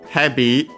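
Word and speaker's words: ヘビ: heavy, we check its accent, is the strictly Japanese word for snake. Okay, accent on the first mora, so I was correct, heavy.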